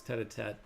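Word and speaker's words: tête-à-tête: right and yeah Sandy I pronounced it wrong earlier it's tatat uh head to head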